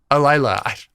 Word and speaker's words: Alyla: Alyla.